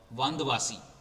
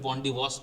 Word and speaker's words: वंदवासी: Actually सही शब्द इसका है वंदवासी। ठीक है? एग्जैक्ट वर्ड है इसका वंदवासी। इसको अंग्रेजों ने फिर वंडी वास प्रोनाउंस किया था।